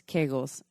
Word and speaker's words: Kegels: So this episode is on Kegels, also known as Kegels. I don't know, tomato, but it's spelled Kegels.